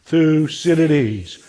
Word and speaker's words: Thucydides: most consequential question so the great thinker is lucidity now I know his name is a mouthful and some people have trouble pronouncing it so let's do it 1 2 3 together through Citadis one more time lucidity so who was lucid